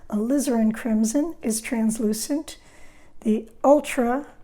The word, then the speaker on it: alizarin: grouping your alizarin crimson accent on the liz alizarin crimson is translucent the